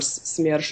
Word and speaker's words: SMERSH: In regard to SMERSH, or SMERSH as we pronounce it, it's basically a counterintelligence